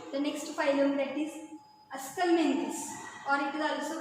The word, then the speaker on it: Aschelminthes: So phylum Aschelminthes, उच्चार बघा Aschelminthes, आणि त्याच्यानुसार स्पेलिंग आपल्याला लिहिता आलं पाहिजे.